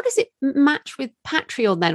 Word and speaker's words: Patreon: I know I'm asking a lot of what might seem basic questions, but how does it match with Patreon then, or Patreon as Americans say?